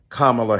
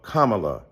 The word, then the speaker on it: Kamala: who insisted upon misnaming mispronouncing kamla Harris do you call Melania Melania do you call Ivanka Ivan then call Kamala Kamala then call vice president